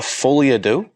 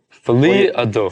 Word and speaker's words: Folie à Deux: You want to try to pronounce that name there? I believe it's Folie à Deux. Folie à Deux.